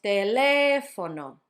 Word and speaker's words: teléfono: And last one is teléfono, teléfono, teléfono. Notice it's on the third to last syllable.